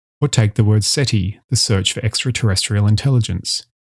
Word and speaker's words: SETI: Or take the word SETI, the search for extraterrestrial intelligence. The final vowel is short and unstressed.